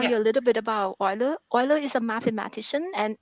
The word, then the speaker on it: Euler: some escapees okay so Euler identity is pronounced oil okay I honestly I